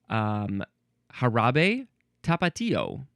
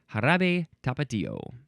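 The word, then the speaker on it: Jarabe Tapatío: Next we have I'm going to guess that this is pronounced Jarabe Tapatio.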